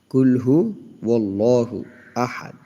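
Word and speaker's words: قُلْ هُوَ اللَّهُ أَحَدٌ: কুলহু আল্লাহু আহাদ। অনেকেই এখানে কি বলে? কুলহু আল্লাহু বলে। কিন্তু এখানে আল্লাহু হবে না। এখানে ওল্লাহু হবে। কুলহু ওল্লাহু আহাদ।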